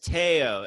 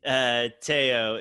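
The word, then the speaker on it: Théo: It's Teao. It's spelled Theo and Americans will say Theo because that's what it looks like. Especially, you know, if you watch the Cosby Show, but it's definitely Teao is the correct pronunciation.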